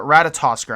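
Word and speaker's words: Ratatoskr: I'm going to butcher a lot of these names, but Ratatosker, I believe, is how you pronounce it.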